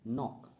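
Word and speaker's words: knock: कुछ और वर्ड्स हम देख लेते हैं साइलेंट लेटर्स के लिए, जैसे कि नॉक। नॉक में के जो है ये साइलेंट लेटर है।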